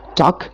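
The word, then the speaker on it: talk: यहाँ पर हमारे पास लेटर एल लिखा हुआ है, टॉक, जिसका मतलब होता है बात करना, लेकिन यहाँ पर एल जो है वो साइलेंट है, हम एल को बिल्कुल भी नहीं पढ़ रहे हैं।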